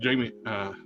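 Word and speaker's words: Jayma: So Actually, the actress Jamie Mays. She's from my hometown. Or like Willie Mays. You mean Jaime? You mean Mays. James? They pronounce her name. She It's pronounced Jaime.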